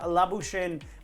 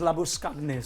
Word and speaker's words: Labuschagne: worth, the Afrikaans pronunciation is Labuskagne.